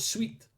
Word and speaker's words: suite: pronounced sui the word sweet as in a three-piece Suite of sofas and chairs I hate it I